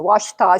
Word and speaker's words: Washita: The Washita spelled like ouch with an A in it.